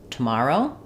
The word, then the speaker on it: tomorrow: We tend to say that with just a schwa on the first syllable, so try morrow, tomorrow.